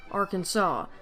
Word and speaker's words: Arkansas: Arkansas but it's pronounced Arkansas you have the French to blame for this apparently it's actually somewhat